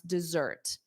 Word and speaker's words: dessert: Yes, I can pronounce dessert. I'm glad you asked. Okay, dessert, dessert, dessert. So notice that z sound, dessert, d. So the syllable stress is da, dessert, da, dessert, dessert.